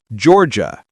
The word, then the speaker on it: Georgia: Georgia. Two syllables. The gia turns into j.